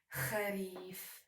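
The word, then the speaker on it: خريف: We pronounce it like kharif.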